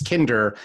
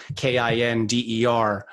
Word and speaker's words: Kinder: who's amazing, George Kinder, I may have mispronounced his last name, so pardon me. His work is too great and too amazing. That's Kinder, Kinder.